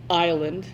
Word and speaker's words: island: over there who convinced me it really is Island and to this day I usually pronounce it properly thanks to my first grade